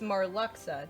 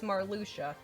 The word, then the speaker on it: Marluxia: hearts where you're like oh it's marluxa no actually it's marluxia and now i have